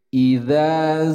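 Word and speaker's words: إذا: Idza zulzilatil ardu zilzalaha. Perhatikan, di sini ada idza. Nah, pelafalan huruf hamzah ketika dikasrahkan i dibaca i bukan e, tapi jelas dibacanya i.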